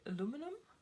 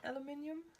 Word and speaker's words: aluminium: one ah an iminium I think the Americans actually say aluminum and the British say aluminium um yeah in Germany